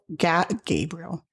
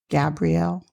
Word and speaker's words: Gabrielle: this earth, there is a professor of psychology, Gabriel. Is it Gabriel? Gabrielle?